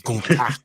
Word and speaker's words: Gunther: I'm like, bro, his name is Gunther. He's like the ring general Gunther.